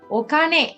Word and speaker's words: お金: this kanji, and this is how it is pronounced. お金、 Okane.